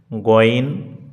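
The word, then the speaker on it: غين: একটু শুদ্ধতা যাচাই করি তাহলে এটি গাইন এটি শুদ্ধ নয় এটি বলা যাবে না তাহলে শুদ্ধ উচ্চারণ হচ্ছে গইন কি হবে একটু প্র্যাকটিস করুন শুদ্ধ উচ্চারণ কি গইন এরপরে ফা এটি নিয়ে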